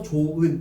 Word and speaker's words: 좋은: 하나 더 좋은 히으로 끝소리가 시작되는 이게 뭐예요? 어간이죠. 어간. 그리고 은이라는 형식 형태소 조산을 만나면 히 탈락해서 조은 이렇게 발음된다는 거예요. 알겠습니까?